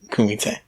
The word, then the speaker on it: kumite: It's if you look it up, it's COOMITE. Kumite.